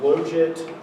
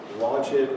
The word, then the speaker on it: logit: It's the logit or logit or logit or however you want to pronounce it function of theta, which is natural log of theta over 1 minus theta.